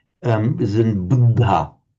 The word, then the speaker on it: Buddha: That was dental. Um, but just the little aspir sound coming out after it. Buddha.